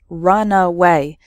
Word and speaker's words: runaway: So the first word has 3 syllables, runaway, and the second word has just 2 syllables, runway.